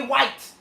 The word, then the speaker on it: Jay White: But why do you keep calling him Wyatt? Because that's how they say it. Jay White. Jay White. His name is Jay White.